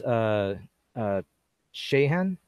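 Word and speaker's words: Siodhachan: the name one so his real name is a Shahan that's how you pronounce it Shane O'Sullivan but he goes by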